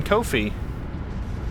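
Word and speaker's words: Ko-fi: can support me on kofi you know it's pronounced like no fee that's what they say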